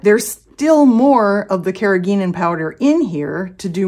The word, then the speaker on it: carrageenan: water thick the carrageenan I was mispronouncing it carrageenan last time apparently and Google informed me that this should be carrageenan carrageenan so my apologies but